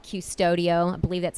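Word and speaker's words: Qustodio: um it's a program it's an app called custodio i believe that's how you pronounce it q-u-s-t-u-d-i-o you would download the app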